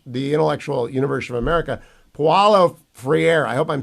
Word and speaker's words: Paulo Freire: him until I read your book yeah it's Paulo Freire and he's a very interesting figure because um